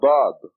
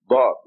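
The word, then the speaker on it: ضاد: that has this letter, a heavy D. They call the Arabic language the language of the Dad, because it is the only language that has this heavy D, Dad.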